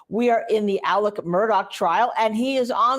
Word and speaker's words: Murdaugh: in the case of Alec Murdoch and by the way that's how he pronounced his name when he was on the stand